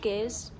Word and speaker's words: gear: That's the thing that you use to switch gears in the car, right? And we also have gears on a bike. And yeah, it's pronounced with a G, gear, yeah.